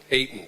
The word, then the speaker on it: Ayton: And David Ayton, I have a hard time with your, am I pronouncing that right? Ayton? Ayton, thank you.